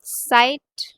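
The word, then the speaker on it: Zeit: learn इट इट्स एस इट्स प्रोनाउ एज एस सो इट्स नॉट ज़ाइट इट्स साइट and when I से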